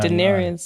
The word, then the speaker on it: Daenerys: And we're not Daenerys. Am I pronouncing it correctly? Yeah, Daenerys.